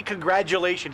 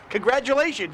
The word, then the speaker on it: congratulations: it sounds like congrat people say congrat but you say congratulations like a d it doesn't always sound like a d congratulations it's a g even how do you say it say it congratulations you say it's a g congratulations it's a g it's not a t or a d it's a g c